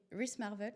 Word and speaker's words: wristmarvels: Donc ton pseudo c'est Ris Marvel. Oui, c'est ça. Je prononce correctement.